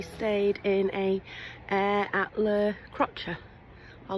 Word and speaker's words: Le Crotoy: Last night we stayed in a air at La Crotcher or L Crotcher. Um if you look on the map it's pronounced L Crotoy. Um, but the locals actually call it Kutcha.